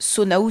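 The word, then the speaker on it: Soneau: une erreur de Nintendo, Sonao s'écrit E à eu à la fin et vous voyez bien que je le prononce Sonao alors qu'il n'y a en aucun cas A. Et même les doubleurs le prononcent comme ça.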